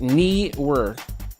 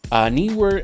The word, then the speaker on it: Neewer: That's how you pronounce it. Neewer. Neewer NL288 LED video light, 2.4 gigahertz remote control.